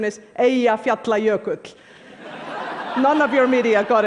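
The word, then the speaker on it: Eyjafjallajökull: friends including President Obama by the way the pronunciation is AE fer player cook none of your media got it right but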